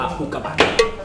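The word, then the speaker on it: อุกกาบาต: กระบา โอห อุกกา นะ มัน ไม่ ได้ ออก เสียง ยาว มัน เอา ออก ว่า อุกาบาต ถ้า อุกาบาท อุ เอา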